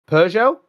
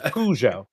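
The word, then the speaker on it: Peugeot: may have occurred yes uh I think you pronounced the car wrong though you said PUO you PUO it's pjo car is ABS yes that must be the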